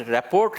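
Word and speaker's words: rapport: Pronounce रैपोर्ट लिखा जाता है लेकिन इसको पढ़ते हैं रैपो.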